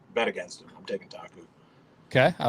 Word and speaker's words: Taku: It is the international showdown: Taku Ito versus Carl Jakobsen.